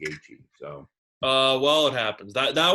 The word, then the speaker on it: Gaethje: Well, you've just taken away one of my mispronounced names there by saying Gaethje.